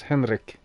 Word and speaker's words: Henri: And because my name is pronounced Henrik, and his name is pronounced Henri, because he's German.